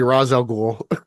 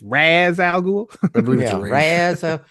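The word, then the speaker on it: Ra's al Ghul: so let's be serious the pronunciation of that woman in begins had it right it's Raz Al iaz um he is it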